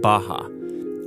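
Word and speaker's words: Barra: is a place called Baja RS are pronounced like H in Portuguese this is a new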